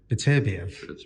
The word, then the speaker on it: Beterbiev: Is it Bitter? I can't pronounce his name. Beterbiev, yeah.